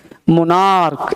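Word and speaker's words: monarch: ए आर सी एच मोनार्क एम ओ एन ए आर सी एच मोनार्क्स है ना क sound हो रहा है तो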